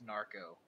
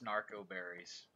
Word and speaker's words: narcoberries: over time, I say narcoberries, but I want you to know that I know it's narco. I just, my accent kicking in a little bit. I know it's narcoberries.